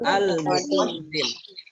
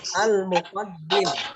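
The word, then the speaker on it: المقدم: Apa bacanya tuh kira-kira? Ya, pinter. Al-Muqaddim. Ikutin Pak Guru. Al-Muqaddim.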